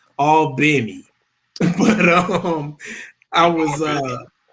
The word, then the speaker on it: Albany: uh albany georgia and let me say it right for all the georgians all benny but um i was